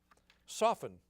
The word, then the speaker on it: soften: Soften. Pace Francisco. T.